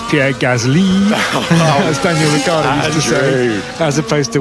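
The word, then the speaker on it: Gasly: know that it's Pierre Gazi as Daniel as opposed to we say Gazzley. The French pronounce the second syllable more than the first.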